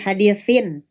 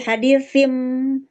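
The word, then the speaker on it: حديثٍ: Karena tadinya kan suara tanwin nih, hadisin. Kemudian berubah menjadi hadisim. Berarti suaranya jadi Berubah. jadi ditukar dengan suara mim. Dan dipermudah dengan adanya mim kecil ya. Itu sebagai petunjuknya bahwa membacanya itu bukan lagi tanwin tapi bunyinya mim.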